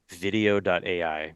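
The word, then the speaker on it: Vidyo: use it for social there's a service called video.ai which is spelled v-i-d-y-o dot a i and again there's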